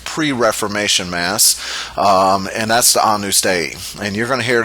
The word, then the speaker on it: Agnus Dei: And the last one is a little difficult to pronounce, but Latin is pronounced differently than English. It's Agnus Dei. It's not Agnus Dei. That's how it's usually mispronounced. But Agnus Dei, which means Lamb of God.